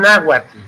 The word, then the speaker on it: náhuatl: En realidad no se pronuncia la TL, es náhuatl, ¿no? Náhuatl. Pero está escrito náhuatl, con TL al final, con el atl.